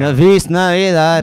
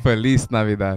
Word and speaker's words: Feliz Navidad: Navis Navidad.